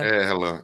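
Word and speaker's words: RLAM: É assim que pronuncia? Relan, isso.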